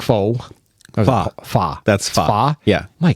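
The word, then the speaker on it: phở: Pho. That's pho. Pho? Yeah. My God, my pronunciations are horrible.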